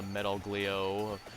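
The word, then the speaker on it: Metaglio: can just get the metal gleo not metog I keep saying it wrong why do I keep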